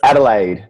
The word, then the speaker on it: Adelaide: And you're coming to us from, please pronounce the name of your city in Australia. Yeah, Adelaide.